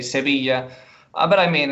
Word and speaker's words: Sevilla: argentina and he says the right pronunciation of sevilla or sevilla is sevisha so that's why i